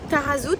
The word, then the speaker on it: Taghazout: Tarazout, si ça se prononce, normalement ça se prononce comme ça.